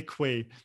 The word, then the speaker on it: Quay: source version of um i struggled to say quay but i guess that's the official pronunciation because i should probably wear in in the uk and europe it's normally for nice key and that one's written